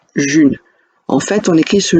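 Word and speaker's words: Ğ1: sujets la monnaie libre elle s'écrit sous la forme d'un g avec une brève au-dessus et un 1 et ça se prononce June en fait on écrit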